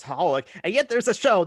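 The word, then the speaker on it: xxxHOLiC: then there's like x it's spelled x x holic but you're supposed to just pronounce holik and yet there's a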